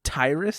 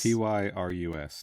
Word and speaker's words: Tyrus: fifteen top build you say his name is tyrus t y r u s tyrus kane kane hotter was a bartender in